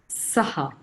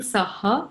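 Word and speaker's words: सः: So just another in terms of pronunciation, we are saying saha, but actually it's sah. The pronunciation should be sah. That's the perfect pronunciation, but we do saha just to emphasize on the ha that follows.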